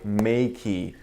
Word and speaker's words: Meike: this lens that was sent to me by May. That is the correct way to pronounce it. I verified with their representative through email. So I was pronouncing it wrong this this entire time.